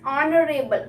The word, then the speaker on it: honorable: Spelling is with H. Right? But the sound is here. H is silent. So sound is honorable.